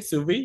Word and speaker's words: sous vide: Did I pronounce it properly, sous vide? No, yes. No, you did.